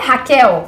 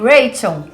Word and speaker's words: Raquel: pessoas de outras Nações veja o meu nome é Raquel mas nos Estados Unidos eles dizem reichan já um caso de